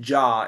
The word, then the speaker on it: Yah: Okay, if you ever heard of the name Yah, pronounced Jah in the KJV, which of course we